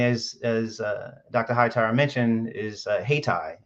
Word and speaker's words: Hayti: Hightower mentioned, is Haytai. It's spelled Hayti.